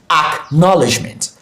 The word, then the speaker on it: acknowledgement: Okay, so knowledge is the parent word in acknowledgement, and that's where you have the stress. Okay, so you pronounce this acknowledgement, acknowledgement, acknowledgement, acknowledgement.